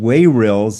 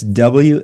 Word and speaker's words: Wayrilz: It's called Wayrilz. It's Wayrilz.